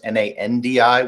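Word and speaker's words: Nadi: international airport is on nandi spelled NAD di but it's pronounced n ndi which is one of the weird quirks of how some things are pronounced in the Pacific uh and then there's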